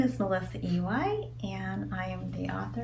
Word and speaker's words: Iwai: Soup Day by Melissa Iwai, that's me. By the way, my name is pronounced like the letter and the letter.